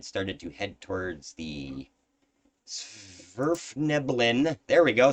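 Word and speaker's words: svirfneblin: uh and had started to head towards the sverfneblin there we go said it right uh city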